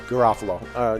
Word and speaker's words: Garofalo: It's Garofalo.